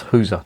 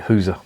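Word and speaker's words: gueuze: girls maybe or who's someone tell me that it's not pronounced hoozer no but nobody pronounces it who's a but a flemish barman i tried to say gurs has he got any girls this was in bruce he didn't know what the i was talking about and he pronounced it who's so what do i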